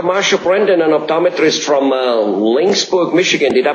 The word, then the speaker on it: Laingsburg: Marsha Brandon, an optometrist from Laingsburg, Michigan. Did I pronounce that right, Dr. Brandon? Yes, Laingsburg is correct.